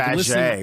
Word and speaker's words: Faget: You but say like, Faget, which is the way it's spelled.